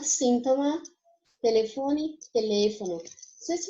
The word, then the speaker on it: síntoma: A gente fala mais forte em português, no caso de sintoma, a segunda sílaba, o to. Já em espanhol, é um síntoma. A gente faz mais força na primeira, certo?